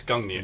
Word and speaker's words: Gungnir: So this is actually, can you pronounce the name? Let me try it. It's the Gungnir. Gungnir. Yes, Gungnir.